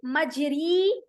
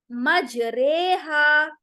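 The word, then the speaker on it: مجراها: ठीक है जैसे देखि मजरी नहीं कहेंगे मजरेहा इसको प्रोनाउंस कैसे करेंगे और एक ही वर्ड है डोंट गेट कन्फ्यूज कुरान में एक ही वर्ड है यह इसे हमें इस तरह से करना है मजरेहा मजहा नहीं करेंगे मजरेहा तो ये एक ही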